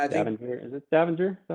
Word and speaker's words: Stavanger: Is it Stavanger? Is that how you say it? Yeah, Stavanger.